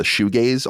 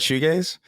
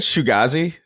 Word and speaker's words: shoegaze: Shoegaze. I always said shoegazi because I always like the way it sounds